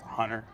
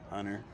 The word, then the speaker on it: Hunter: Well, most people don't pronounce the T in my name, you know? It's Hunter. Hunter. Hunter. You're saying it wrong. Hunter.